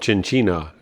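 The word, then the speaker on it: Chinchiná: And then further on, there's a place called Chinchina, Chin-chi-na they pronounce it here.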